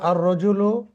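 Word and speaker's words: الرَّجُلُ: তারপর 2 নম্বর আর রজুলু ওয়াকিফুন, লোকটি দাঁড়ানো বা দণ্ডায়মান। ওয়াকিফুন মানে দণ্ডায়মান, এখানেও কিন্তু আলিফ লাম এসে লামটা সাইলেন্ট থেকে গেছে, উচ্চারিত না হয়ে রয়ে তাসদিদ হয়ে রটা উচ্চারিত হয়েছে, অর্থাৎ আলিফ সরাসরি গিয়ে রকে ধরবে।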